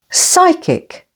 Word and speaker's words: psychic: Psychic, with the stress on the first syllable.